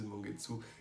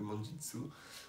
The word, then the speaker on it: Mangetsu: Alors chez Mangetsu, Shonen ou Seinen, tout ça, on m'a dit déjà de prononcer Mangetsu et ça marche bien. Ça marche plus que Manjitsu.